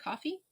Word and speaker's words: Ko-fi: You can also check out our Ko-fi account, coffee account, also at the Petal Cafe. I think it is spelled Ko-fi, but it's supposed to be coffee because you're buying a coffee.